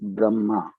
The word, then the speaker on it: Brahma: m double a because in hindi and sanskrit if you are single a it's silent that's why the first one b r h it's brah and then when we have to pronounce it a it's double a then it becomes brahma and the anagram of